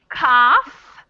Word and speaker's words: cough: so the word is cough but i'll give you a hint right now and tell you that there's no f in this word it's not spelled with an f it's cough as in